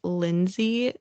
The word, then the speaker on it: Linzi: Granted, her name is Lindsay, but it's spelled Linzi.